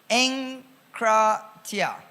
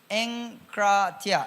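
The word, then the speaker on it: ἐγκράτεια: So the word self-control is from the Greek word EGKRATEIA, pronounced as enkratia. Enkratia in Greek, if you want the Greek.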